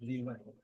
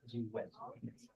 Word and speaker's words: Ziwen: There's N and then Ziwen. Ziwen.